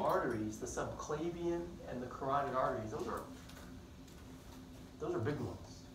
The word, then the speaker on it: carotid: It's spelled carotid, pronounced carotid, not sure why.